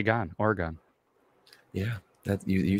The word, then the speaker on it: Oregon: okay Khaleesi I don't know what you're doing or gone you know I mean I it's Oregon I always whenever I'm thinking